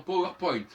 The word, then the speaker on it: PowerPoint: en français on dit le seul cas des rares cas où le OI se prononce OI, c'est dans PowerPoint. Donc l'anglais nous renvoie à la bonne prononciation de point.